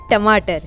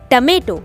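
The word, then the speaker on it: tomato: है तो वो है टमाटर, है ना। तो इसे हम इंग्लिश में कहते हैं टमेटो। टमेटो, नॉट टोमेटो। Okay, टोमेटो नहीं कहते हैं, इसका करेक्ट प्रोनाउंसिएशन है टमेटो। टमेटो।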